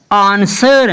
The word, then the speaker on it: answer: जैसे कि ANSWER आंसर, ना कि आंसर। बहुत से स्टूडेंट्स इसको क्या बोलते हैं आंसर, लेकिन आंसर हमारी प्रोनाउंसिएशन गलत है, हमें हमेशा इसको क्या बोलना है आंसर।